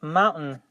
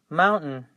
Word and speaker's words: mountain: part so we say mountain and you have to pronounce the N the T and the N all together so practice that the